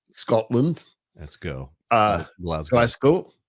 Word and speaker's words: Glasgow: from Northern Ireland to Glasgow Scotland let go uh glas Glasgow Glasgow glasgo it's a z almost thank you all right